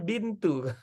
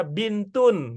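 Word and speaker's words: بنتٌ: kalau dia ada alnya kita akan mengatakan albintu tapi karena dia tidak ada all maka kita cocoknya membaca bintun gitu jadinya karena tidak ada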